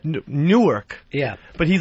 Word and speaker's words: Newark: He calls it He says I'm from Newark. N O R K. Yeah. How do you say it? Newark. Yeah. But he's like, I'm from Newark, New Jersey.